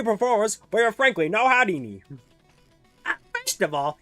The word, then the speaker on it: Houdini: be performers, but you're frankly no Houdini. First of all, it's pronounced Hardini.